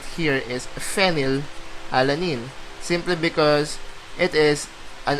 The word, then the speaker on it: phenylalanine: Actually, this is not as weird, because if you pronounce phenylalanine, it's like phenylalanine. So it's like you start off with the letter F.